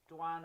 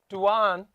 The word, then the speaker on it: Dwan: Their name Duan. Is it Dwayne and you're saying it wrong? Is it Dwayne? Duan. That's D-W-A-N. Duan.